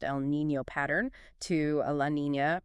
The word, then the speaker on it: El Niño: Driven by massive global oceanic and atmospheric circulations like the transition from an El Niño, pronounced El Niño, pattern to a La Niña, pronounced La Niña.